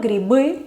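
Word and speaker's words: грибы: Por ejemplo, griby, que es el plural, ¿sí? Grip, griby. Ya deja de estar al final y entonces se pronuncia como B.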